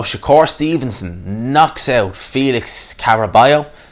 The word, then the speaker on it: Caraballo: So Shakur Stevenson knocks out Felix Caraballo, that's how you pronounce it, in the 6th round.